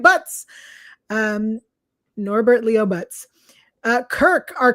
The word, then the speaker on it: Butz: That last name might be pronounced Boots, but I'm pronouncing it Butz.